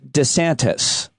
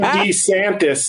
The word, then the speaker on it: DeSantis: I've been saying DeSantis. Everybody's been saying DeSantis except for one person, Ron DeSantis. In his release video, we're fighting the woke... He said, I'm Ron DeSantis.